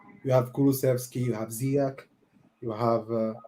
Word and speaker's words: Ziyech: So players at 35, the ones I can think of, you have Kulusevski, you have Ziyech, you have Ziyech, for those who want to pronounce it the right way.